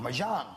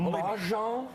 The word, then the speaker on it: mahjong: know but I'm saying you pronounced it wrong my job I said it right my John Marcia Marcia should move on mahjong mahjong I'm sorry I didn't know that I was saying it improperly mahjong doesn't stop once you